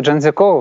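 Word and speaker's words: 张家口: Я можу зараз вимовити трішки неправильно, вибачте, бо це китайське місто, Чанцзякоу, яке розташоване подалік від столиці. Як справи там? Так, місто Чанцзякоу, все правильно ви сказали.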